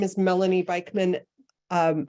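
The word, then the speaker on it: Beikman: Melanie Beekman hi there my name is Melanie bikeman um it's spelled m-e-l-a-n-i-e last name is b-e-i-k-m-a-n I'm with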